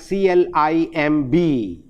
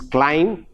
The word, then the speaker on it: climb: in a word like c l i m b the correct pronunciation of the word is climb but we tend to pronounce it as climb no that is silent again we have the same